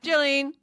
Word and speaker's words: Jalene: Did I say it right? Jalene. Yeah, Jalene. Yeah.